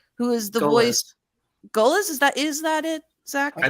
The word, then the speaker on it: Goelz: Who's been there this whole time, and that is, please God, let me pronounce his last name right. Dave Goelz, who is the voice. Goelz, is that it, Zach?